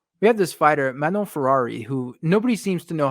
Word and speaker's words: Fiorot: Manon Fiorot is not how she pronounces her name. Let's hear her. Let's see how she pronounces it.